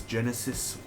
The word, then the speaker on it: Genisys: anticipated movies of 2015 terminator genisys and of course that is Genesis spelled GE and is why pass why do they